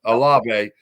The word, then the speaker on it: Olave: They pronounce it right all the time. Yeah. Olave.